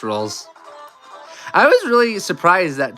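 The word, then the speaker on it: Rouxls: It's pronounced rolls.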